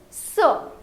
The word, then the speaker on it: ce: It is set and set, but it is ce. Please repeat, ce, and this is say.